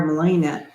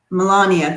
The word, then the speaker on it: Melania: this charade um sweetie darlings um wondering where malayana melania thank you i say it wrong every time